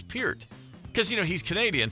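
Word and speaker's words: Peart: And hey, that's Neil Pert.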